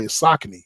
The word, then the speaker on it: Saucony: He said, I know you know your stuff, but like, it's not Saucony. I was like, how do you say it? He was like, Saucony.